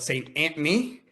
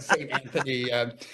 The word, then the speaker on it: St. Anthony: And if you're from that area, you call it Saint Anthony, and St. Saint Anthony, and Anthony. Saint Antony is actually kind of closer to the original pronunciation, because Saint Antony was a saint.